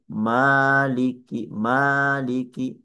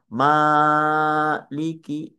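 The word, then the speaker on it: مالك: Maliki jangan dibaca maiki arrahmanir.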